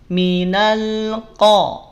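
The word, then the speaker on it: مِنَ الْقَوْمِ: Minal qo ada ya Maka hati-hati qaf jangan sampai ikut-ikutan monyong yang monyong hanya wau sukun yang Monyong apa yang monyong yang maju hanya wau sukun qofnya jangan ikut-ikutan Nah coba Siapa yang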